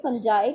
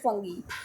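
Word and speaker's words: fungi: अगर हम बात करें फुंजय की या फंगी की तो फंगी और फुंजाये आप दोनों तरह से प्रोनाउंस कर सकते हो बट बेसिक प्रनंसीएशन इस फंगी सो फंगी को जो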